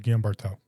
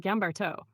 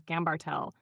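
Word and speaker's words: Guimberteau: Jeanclaude Gamarto? Yeah, of course. Dr. Jeanclaude Gamarto, sometimes mispronounced as Gambartel, is a French plastic and hand surgeon who did groundbreaking work on fascia.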